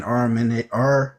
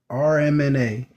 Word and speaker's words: mRNA: Dude, we were speaking on the vaccines in the last 5 years that contain RMNA. mRNA, Yeah, my bad.